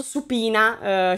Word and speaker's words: subpoena: team fa il famoso supina si scrive subpoena ma in inglese si pronuncia su pina che è una cosa